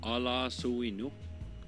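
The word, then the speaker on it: Ala'suinu: Here's the correct pronunciation. Ala suinu.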